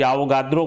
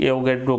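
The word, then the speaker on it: Avogadro: Pronunciation अंग्रेजी का कोई आवोगाद्रो के रूप में करते हैं, कोई एवोगैड्रो के रूप में करते हैं।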